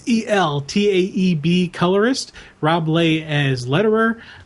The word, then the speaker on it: Eltaeb: Patrick Zircher, Zircher, storytellers, with Gabe I always mispronounce his name, and I love his work. It's Eltaeb colorist, Rob Lay as letterer, with Patrick Zerker and Gabe Eltib on the cover.